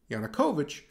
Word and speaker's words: Yanukovych: use this demonic device to remember the difference yanukovych rhymes with putin's yushenko poisoning as